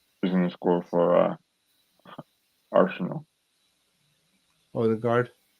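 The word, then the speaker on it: Ødegaard: I think Saka is gonna score, and Udegaard, aka Udegaard, is gonna score for Arsenal. Odegaard. Udegaard, as our friend Gary and Tony likes to say, even though Tony says it's the wrong pronunciation, it's Udegaard.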